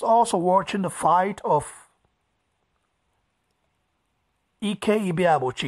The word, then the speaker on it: Ike: watching the fight of EKG ba ba Chi you guys would say Ike but I say ek because as a that's how the ebo tribe pronounce it you know the Tri